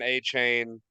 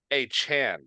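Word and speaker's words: Achane: and another touchdown uh Devon a chain or sorry Devon a Chan is actually how you pronounce his name According to some uh recent articles that came out it's like hey can y'all stop mispronouncing my name it's a Chan so Devon H Chan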